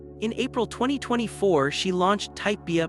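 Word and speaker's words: Typebea: In April 2024, she launched Type BIA, pronounced TypeB, a higherformance inclusive hair care line.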